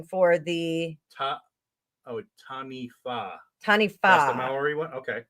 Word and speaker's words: Taniwha: Oh, so Juanita gave you a pronunciation for the Taniwha. Taniwha. That's the Maori one? Okay. Yeah. I'm sorry. The WH. What did you say? I said Taniwha.